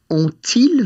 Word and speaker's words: ont-ils: Well, that's a wee bit tricky because the T of ont, which is going to be our first word, is going to have to liaise with the I of ils. Mm-hmm. So it's going to sound like ont-ils vu le film?